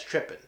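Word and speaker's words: trippin': that was bought here in Russia that says tripping now it could have a G at the end but the way we pronounce it we say trip pin so I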